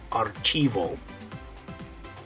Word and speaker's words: archivo: the way you're going to say that is archivo artivo okay so I mean like I said